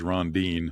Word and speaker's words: Rondine: of those pronunciation website so it's definitely three syllables well that's that's cool what he's saying in in English is rondine that's how we would